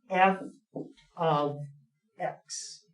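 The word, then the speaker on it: f(x): do you pronounce that you don't say F parentheses x parenthesis that that's not how you say it when you want to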